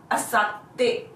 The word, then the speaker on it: あさって: Asatte. Asatte. There is a small tsu between sa and te, hence there is a small pause between the two syllables. The pronunciation would be asatte.